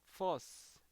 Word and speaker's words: fuss: 그래서 make a fuss라고 하거나 kick up a fuss F 발음이니까 펀드 그러니까 fuss 이렇게 되는 거죠. 예, 저도 뭐 자꾸 P 발음이랑 비슷한데 make a fuss 예,